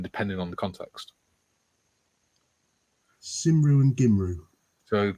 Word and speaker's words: Cymru: Gymru is spelled... No, it's Cymru. Simru.